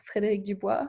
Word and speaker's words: Frederic Dubois: I'm with Frederic Dubois. Am I pronouncing it right?